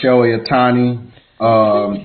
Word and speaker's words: Shohei Ohtani: I think we can kick off talking about my man Shohei Ohtani, Japanese baseball player.